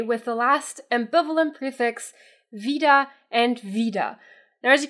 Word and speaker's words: wieder: just to be clear both of them are pronounced exactly the same because in both words the e sound is long so whether you spell it with an IE or just an i it's Vida but Vida with E